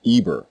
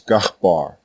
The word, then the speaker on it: Eber: Thus the name of the man who left the tower of Babel still speaking the one language was not Eber or Hebber. His actual name was Gahbar and his descendants who continued to speak this language were called Gabarim plural.